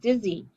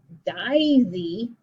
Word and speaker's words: dizzy: not going to say daisy, not daisy. It's not open syllable, daisy. It's diz. I have to close that in to make it a closed syllable with an open syllable.